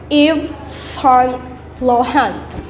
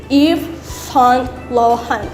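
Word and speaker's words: Yves Saint Laurent: or pronounce it so you're supposed to pronounce it in french so you call it eve son lohan if son lohan so it's french i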